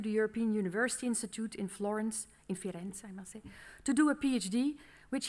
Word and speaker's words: Firenze: First, Firenze, because we have to pronounce in Firenze.